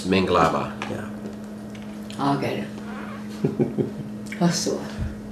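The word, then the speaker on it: Mingalaba: And in Burmese, it's Minglaba.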